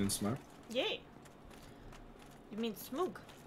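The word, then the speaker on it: Smough: You mean Smoog. I told you, H's are silent and OU is pronounced as OO.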